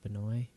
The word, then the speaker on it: Binet: And that like blew my mind because it was created by the original co-inventor Alfred Binet, I think it's pronounced Binet, Binet.